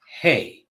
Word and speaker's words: Hei: use the sound power hay just like just like the the food that horses and cows eat except it's spelled HEI hey and it is a